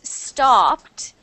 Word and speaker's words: stopped: That e d sound is not a a stopped. It's actually just like a tiny t sound. So, the t sound at the end like this. Stopped. Uh, no, no d. No d t. No, actually like a t.